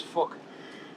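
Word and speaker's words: Phuc: His name was Fuck, but it's spelled with a PH, so it sounds like fuck.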